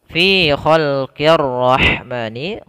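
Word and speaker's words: الرحمن: Ya, kemudian pada lafal fi khalqir rahmani, qi kasrah bertemu dengan ro, ini langsung ke ro. Alifnya tidak dibaca, lamnya tidak dibaca, tapi langsung ke huruf ro.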